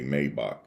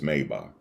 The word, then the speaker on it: Maybach: everybody want to make Maybach excuse me it's called Maybach we say it incorrect we say Maybach but it's Maybach that's how that's how